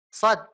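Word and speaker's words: ص: tadi ibu siapa lupa SH ya Shad jadi sa diokan so kemudian ditebalkan SH SH ya tanpa menggerakkan bibir atas SH gitu ya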